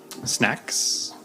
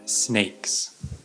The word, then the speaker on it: snacks: or whatever Etc um some of my English students had trouble pronouncing snacks sometimes they said snakes because if you look at the two words snacks snakes snack is a food but snake is an animal but I had some